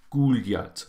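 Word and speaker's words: гулять: So muy poszli guljat. So guljat, yat is where the stress is, meaning to walk or for a walk.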